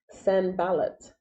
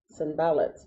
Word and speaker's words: Sanballat: to look to see how do you pronounce this name? Sanballat. Sanballat.